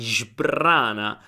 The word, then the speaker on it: sbrana: says ti sbrana, ti sbrana. So it's not sbr but sbrbr.